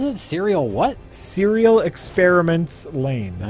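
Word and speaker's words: Lain: Tell Jay to watch Serial Experiments Lane. Never even heard of that. Serial Experiments Lane? And Lane is spelled L-A-I-N.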